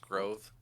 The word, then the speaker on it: Grov: write that down it is g-r-o-v it is pronounced grove grover groth he'll take both has set up